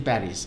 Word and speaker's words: Paris: letters uh oh so you don't say s in Paris and they say what do you mean I say well Paris is like p a r i s uh but you are not uh pronouncing s he said no no we do it I said really can you say this again and they say yeah par par you know and I